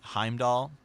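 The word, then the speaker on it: Heimdallr: Norse you know mythology if the letter R comes after a value pronounce it kind of like tear right or like Thor but if it comes after a consonant it's silent so like Heimdall yeah like you know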